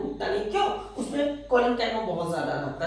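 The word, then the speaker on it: Collenchyma: ये क्लोरेन्काइमा है, ये कोलेन्काइमा है। थोड़ा सा प्रोनाउंसिएशन का अंतर है, देखिए क्लोरेन्काइमा और ये कोलेन्काइमा।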